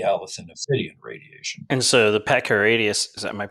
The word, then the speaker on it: Pachyrhachis: And so the Pachyrhachis, am I pronouncing that correctly? Yeah, Pachyrhachis.